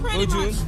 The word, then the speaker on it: Vôdûn: Is the right pronunciation? Vôdûn. Yeah. Vôdûn in interview today because it's your first time you play here.